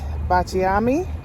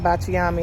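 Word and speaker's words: Baciami: I got Bachami, One of the ladies was saying bachiami, and that's what I always hear, or bakiami or bachiami. But she said the correct pronunciation is bachami.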